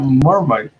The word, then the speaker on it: Marmite: Oh, you got Marmite, or is that the proper way to pronounce it? Yes, it is.